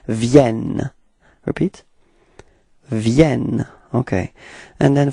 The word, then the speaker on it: viennent: you can see that you pronounce the like a e, okay, and the reason for that is that you've got right after two n, and then it gives you the sound e, okay. It does change the pronunciation of this okay, so it's viennent.